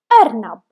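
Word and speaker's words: أرنب: As you can see, this is letter Alif and we have Hamza above it because we pronounce it like Arnab.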